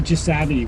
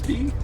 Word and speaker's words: Chisasibi: Into Chisabi. We learned how to pronounce it. Yeah, from a couple locals. Chisabi.